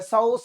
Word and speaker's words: Psoas: Psoas में, 'p' silent होता है। सोआस मांसपेशी, या आप इसे जो भी कहते हैं, ठीक है ना?